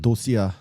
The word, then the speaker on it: Dosia: 그니까 도스인은 도스인이라 불러도 된다라고 했지만 원래는 자기네 뭐 나라 언어가 저 나인 적에 도시아라는 발음으로 한대요.